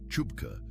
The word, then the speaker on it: CHBCA: The Committee for Human Biological Compatibility Assessment, or CHBCA, pronounced Chubka by everyone who had to say it more than once, was tasked with studying the energy drink phenomenon and developing guidelines for safe interaction with human substances.